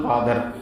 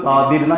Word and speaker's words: காதிர்: பெயர் இருக்கும் அப்துல் அப்துல் காதர் முஹைதீன் அப்துல் காதர் இதான் சரியான உச்சரிப்பு காதர் அப்துல் காதிர்னா கிடையாது காதர்னு ஒரு பதமே கிடையாது அரபில காதர் பதமே கிடையாது நாசர் பதம் கிடையாது நாசிர் தான் கரெக்ட் காதிர் தான் கரெக்ட் இமாம் பேர் வைக்கும்போது முஹியுதீன்